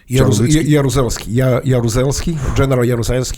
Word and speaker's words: Jaruzelski: Jaruzelski.